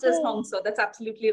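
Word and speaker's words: Hong Sau: Yes, it is pronounced as Hong So.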